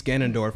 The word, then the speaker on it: Ganondorf: after he actually beatss Ganondorf I that's the correct pronunciation gondorf after he beats him